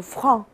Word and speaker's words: franc: 再接下来叫做 franc，那个 k 是不发音的啊，franc。